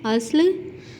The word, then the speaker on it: اصل: تلفظ کی ادائی کریں۔ اصل، ہم لوگ کیا کہتے ہیں غلط العام الفاظ میں؟ اصل۔ تو یہ اصل نہیں ہے، اصل ادائی ہے اصل۔ امن، امر، برق، ترک،